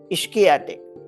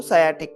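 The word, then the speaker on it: sciatic: जो नर्व जाती है उसको हमने कहना चाहा था इश्क एटिक लेकिन उसका वो मिस प्रोनाउंस हो हो के हो हो के अभी हम सब लोग उसको सायटिक कहते हैं तो वो जो न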